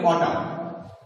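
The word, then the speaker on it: autumn: Early অটাম, early অটাম, এন এর উচ্চারণটা হয় না, এ ইউ টি ইউ এম এন, এটা আমরা বলি অটাম।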